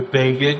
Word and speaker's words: Begin: thought it was really important that people not mispronounce Bean's name. So, in the story about Manak and Bean that they did, they had a little box that said, "Bean rhymes with Fagan."